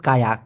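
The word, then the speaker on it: kaya: ধনী মালয়েশিয়ান ভাষা হচ্ছে কায়া অথবা কায়া যেটাই বলেন, মূলত উচ্চারণটা হওয়া উচিত কায়া, কায়া, কায়া, কায়া।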